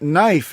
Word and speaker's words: knife: in in other news the k in knife is also silent you and me yeah